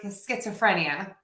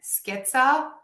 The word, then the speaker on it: schizophrenia: How do you pronounce the word schizophrenia? Like a true American. Schizophrenia.